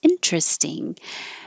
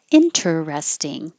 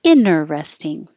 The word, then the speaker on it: interesting: here you can hear interesting and then without the middle t or the first T inner resting and Rhythm Rhythm it